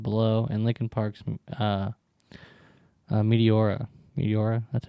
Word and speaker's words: Meteora: Meteora?